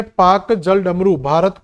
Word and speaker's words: Palk: तो पाक की एक बार स्पेलिंग जरूर बेटा पढ़ लेना कि इसकी स्पेलिंग PALK है। तो ये पालक वाला पाक है।